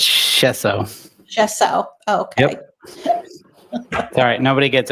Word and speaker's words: Schoessow: You got it really close. It's Chesso.